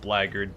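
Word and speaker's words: Blackguard: uh probably as a blackard before anybody says it I know it's pronounced blackard but but I'm not going to call that class just doesn't beond doesn't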